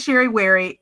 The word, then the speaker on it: Sherry Wherry: So, one, my name is Sherry Weary. It rhymes.